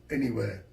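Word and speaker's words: N.E.Wear: where n dot e and then w-e-a-r m-e-m-e-wear pronounced anywhere anywhere ladies and gentlemen thank you very much my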